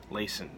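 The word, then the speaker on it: Lason: I always struggle pronouncing Melissa's last name Laysan it rhymes with my own first name and yet I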